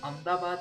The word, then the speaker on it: Ahmedabad: Ahmedabad is pronounced as Ahmedabad in Gujarati.